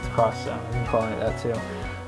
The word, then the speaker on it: Project X Zone: Project X Zone 2, or I call it X Zone, but it's Cross Zone.